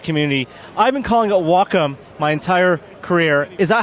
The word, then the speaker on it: Wacom: humans and Technology that's wacom's Mantra it's not waycom guys it's Wacom well one name that